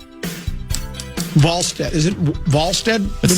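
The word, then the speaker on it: Wallstedt: Volstead. Is it volstead? It's spelled like wall but it's pronounced like v.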